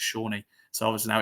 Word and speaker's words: Sone: Obviously we were calling him wrong the whole time. It was, Sone Aluko were calling him, but then one day I think someone asked him, how do you say it? And he went, oh, it's Shawnee.